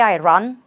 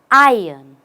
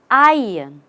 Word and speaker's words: iron: tool do you say I run we are not running anywhere you say ion ion just say I and the r goes away and we have I